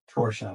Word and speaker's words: Torchia: So I hear I crown you Torchia, like Porsche. So that's why I say Torchia, because this way, when